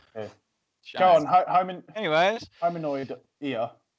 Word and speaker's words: Hominoidea: Go on, Anyways, hominoid ear. Hominoidea. I actually think that's how you say it.